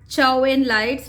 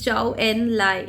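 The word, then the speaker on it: Zhou Enlai: it properly okay so don't uh mention it as chow in lights not chow mean and nothing it's ciao and lie okay so there's a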